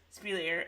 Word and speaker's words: Speleers: and they think ed Speleers you say his name Speleers Speleers spiel ear well it is now